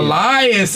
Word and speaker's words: Elias: And I want to thank my producer, Elias. Am I pronouncing it right? Oh, Elias, okay. Like I pronounced Kambitsis right.